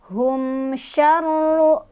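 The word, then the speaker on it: شَرُّ: Hum syarru, ditekan ro-nya ada tasydid. Syarru, dan ro-nya dibaca secara tafkhim karena ro-nya barisnya di atas atau dhammah. Jadi otomatis ya. Dibacanya ditebalkan.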